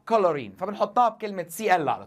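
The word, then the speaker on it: chlorine: الصراحه اللي بيميز نطق كلمه كلورين مش الاتش لان انت ما بتنطقهاش حرف شين انت بتنطق كولورين فبنحطها بكلمه سي ال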